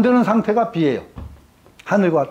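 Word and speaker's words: 否: 부정한다고 할 때 분데 이거 괴 이름일 때는 비라고 읽습니다.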